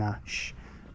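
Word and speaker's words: Ashe: And the River Test has its source 1 mile to the east of here in Ash. So that's how you say it. A-S-H-E though, spelt differently to the other way.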